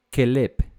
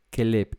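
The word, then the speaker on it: כלב: La palabra para que está traducida aquí como perro es kelep, kelep. Y se escribe, o sea, las letras son las mismas que el nombre de Caleb, el hijo de Jefone, ¿cierto?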